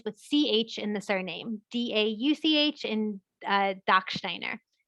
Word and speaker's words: Dauch: Is the CH pronounced as a K? For English purposes, technically, but in German, it's more like it's more in the back of your throat. So Dach, Dauch, Dach.